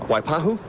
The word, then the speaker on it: Waipahu: You pronounce that so well. Waipahu?